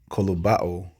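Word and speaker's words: κολοβόω: Strong's G 2856, and it's pronounced kolobao, right?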